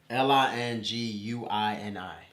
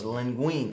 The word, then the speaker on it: linguine: Linguini. Okay, both of you are wrong. Oh, well. It's linguine.